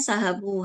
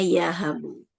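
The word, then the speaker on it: يهب: Izin tadi, Ibu bacanya sahabu harusnya ya habu.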